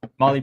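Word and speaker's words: Mahle: So, Marley pistons.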